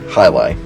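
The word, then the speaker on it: Jai Alai: it have trouble pronouncing the name it's actually pronounced highi it's actually a sport but uh it's a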